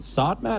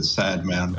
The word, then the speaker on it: Sodman: Is it Sodman or Sadman? Sodman. Sodman. So I've been saying it the wrong way the whole time. I apologize for that. But most people pronounce it Sadman, but yeah.